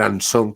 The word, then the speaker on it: Anson: También es pariente del antiguo director de ABC, el señor Anson, que es como lo pronunciamos los españoles, y él siempre ha estado muy ufano de este tipo de parentesco familiar.